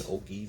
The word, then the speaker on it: ogive: You've got the case area, you've got the ogive, I think it's called an ogive, that's how it's pronounced, and then you actually have the rifling.